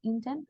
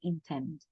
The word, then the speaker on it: intend: El golpe, por así decir, de la palabra va a ser al final. En lugar de decir intent, va a ser intend.